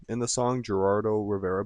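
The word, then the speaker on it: Geraldo: Um, he called him out by name in the song, Gerardo Rivera, but I think he mispronounced it on purpose as Heraldo Rivera. Um, maybe more of like a disrespectful tone onto it.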